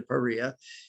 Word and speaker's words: PAREA: What you need to know about it, it rhymes with FIREA to PAREA.